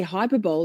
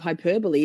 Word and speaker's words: hyperbole: Every The number of times I say hyperbol instead of hyperbole is not even funny.